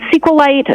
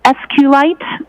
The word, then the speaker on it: SQLite: lowercase i t and sqlite uh is also commonly pronounced as esuite so both pronunciations are acceptable now once you receive